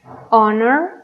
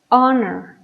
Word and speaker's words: honor: Sin embargo, en estas otras palabras no hacemos ese sonido, solamente pronunciamos air, honor, hour. Así que nuestro sonido inicial es de vocal, ¿ok? Hour, honor, air.